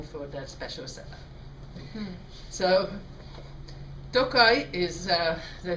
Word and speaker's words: Tokaji: wanted this spine for that special setup so toai is uh they say it's located in the